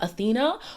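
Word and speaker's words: Awhina: It's written like Awena though, but it's pronounced Athena.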